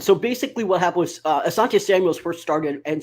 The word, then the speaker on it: Asante: Asante Samuel.